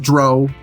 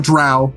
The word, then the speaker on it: Drow: It should obviously be pronounced Dro, not Drow, right?